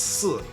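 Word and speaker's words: 四: So to be aware of that, the number 4 is pronounced si in Chinese, and the word for death is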